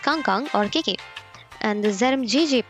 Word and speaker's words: KangKang: So KangKang's in-game name is actually this ZMJJKK, not ZMJKK, and it's pronounced KangKang or KK.